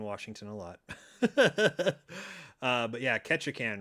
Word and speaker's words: Ketchikan: It's called Ketchikan, spelled like ketchup, Ketchikan.